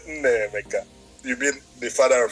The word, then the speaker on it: Nnaemeka: So, and since you have two vowels, A and E, A is pronounced as A, E is pronounced as A. It's Nnaemeka. Nnaemeka. But you are stretching the A. Don't stretch it. Oh, Nnaemeka. Yeah, Nnaemeka.